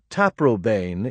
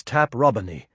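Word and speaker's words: Taprobane: The name taproane is now usually spoken to rhyme with plain, but the correct classical pronunciation is taproin as Milton of course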